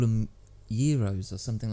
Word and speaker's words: gyros: think they call him gyros or something like that like this is soft soft G yeah euros euros and I was like